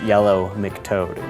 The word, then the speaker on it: Yellow McToad: And in case you didn't get that, it's Yellow McToad, which happens to rhyme with Yellow Brick Road, but totally different thing.